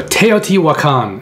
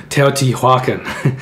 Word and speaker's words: Teotihuacan: on Kickstarter so teoti wakan I saw you to pronounce it correctly I always wanted to call it teotihuacan teoti wukan one other thing in